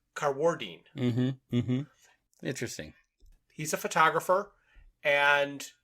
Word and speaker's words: Carwardine: And I was saying Mark Carwardine, but he puts the accent on the second syllable, so he's Carwardine.